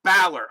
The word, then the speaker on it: Balor: valor is in baylor so valor so it's pronounced balor okay so balor more thank you thank you